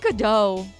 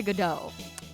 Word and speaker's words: Godot: Now I say Godot. I hate that the T is silent.